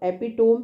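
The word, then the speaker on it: epitome: लेकिन एपिटमी को याद कैसे रखना है, तो एपिटोम भी याद रखो क्योंकि आपको स्पेलिंग के लिए ये हेल्पफुल होता है एपिटोम। लेकिन ये इसका साउंड इज एपिटमी, ये है इसका sound एपिटमी, right, एपिटमी, right.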